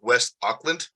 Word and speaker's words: West Auckland: I hope I pronounce this right. West Auckland.